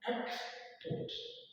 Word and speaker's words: export: Example, see export. This vertical line, you can see it here. It just look like I call it single quotation mark, which we use for emphasis. Yes, as this thing is here, it means our stress is at what? First syllable.